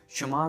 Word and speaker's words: शुमार: अगर शुमार लिखा होगा, बात अगर होगी शुमारी की, मीन्स के किसी चीज़ में शुमार होने की, तब शुमार उच्चारण किया जाएगा, रजाई शुमार।